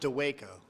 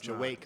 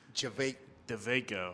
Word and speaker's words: Dawejko: So it's not Dawejko. No, it's Dawejko. not. It's actually with a V. Dawejko. Dawejko.